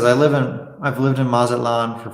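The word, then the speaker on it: Mazatlán: Steven says, I've lived in Mazatlan for 5 years, and let me tell you, the heat gets oppressive.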